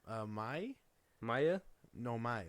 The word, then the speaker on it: Mai: were these girls okay what's their names uh May Maya no my like m a i n